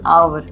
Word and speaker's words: hour: For example आवर, HOUR, आवर, एच का sound होता है ह, पर जब हम उसको रीड करते हैं तो क्या हो जाता है?